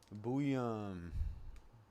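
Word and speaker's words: Buium: It is Zeve. Boo. Okay. I was saying Bou. I was putting like a extra u in there, an extra syllable.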